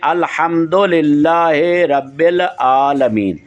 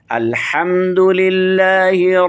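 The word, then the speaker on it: الحمد لله: میں تھوڑا فرق ہے، یعنی ہم پڑھتے ہیں الحمد للہ رب العالمین، یہ ہمارا پاکستان کا لہجہ ہے، تو جو اصل عربی لہجہ ہے وہ یہ ہے الحمد للہ رب العالمین، یہ الرحمن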